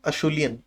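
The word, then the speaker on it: Acheulean: अशूलियन, please word का spelling देखिए, इसको बोलेंगे अशूलियन।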